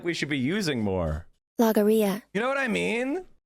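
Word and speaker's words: logorrhea: Yeah, it's called like Longoria or something. I can't remember how to pronounce it. Logoria.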